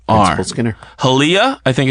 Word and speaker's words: Hialeah: SK I and n E are it Skinner halia I think it's how you pronounce it Florida Hialeah Hialeah my life highlights a sport that I